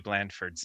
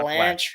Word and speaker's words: Blandford: have been pronouncing Matthew Blandford's name. Oh It's boy. Blandford, not Blanche.